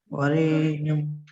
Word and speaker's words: वरेण्यम: वहां ठोकर मारना है मूर्धा में। वरेण्यम।